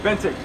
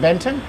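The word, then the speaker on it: Bentinck: Bentick. Benton. Bentick. Bent. Spell it.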